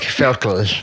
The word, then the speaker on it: Völkel: Can I tell you what the Google pronunciation said? Oh, please. Völkel. Okay. Vocal. I kind of liked that, whatever that was. It was like Völkel or something. Yeah, it's like Völkel.